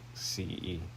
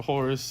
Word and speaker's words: Horus: Was his name actually spelled the way the Egyptian god's name is spelled, or was it Horace? Oh, no, Horus, not God.